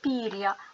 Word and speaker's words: пір'я: це відбулося тому що коли ми вимовляємо це слово піря то ми чуємо два звуки і щоб показати на письмі що в даному випадку буква я позначає два звуки використовується знак апостроф апостроф це знак у словах